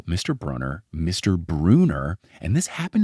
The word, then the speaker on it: Brunner: How do people keep thinking it's Bruner? I mean, at this point, I gotta think maybe Rick thinks it's Bruner. And we love Rick, but as he has admitted, he does pronounce his own last name wrong. So like, maybe he was like, yeah, guys, 2 N's, but it's Bruner. I don't know. It's definitely Brunner.